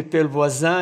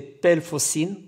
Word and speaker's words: Pellevoisin: J'ai eu du mal avec la prononciation de Pelvoisin et je pensais que c'était Pelfocine, car je ne parle pas le français et je dois faire la bonne prononciation.